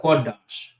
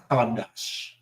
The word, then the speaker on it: Qadash: Not Qadash, but Qadash. Qadash is how you say month.